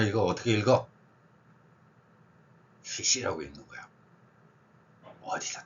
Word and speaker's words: ghoti: 자 봐, enough, 여기 GH 어떻게 읽어? F로 읽잖아. 자, WOMEN, 이거 O 어떻게 읽어? 위민, I로 읽잖아. E. 그리고 션 들어간다는 아무거나 생각해봐. attention, 그러면 attention, 여기 봐봐, TI, 쉬 발음 나네. 그러면 발음으로만 따져봐. F, I, SH. 그래서 GHOTI는 CC야. 버나드 쇼다운 주장이었죠.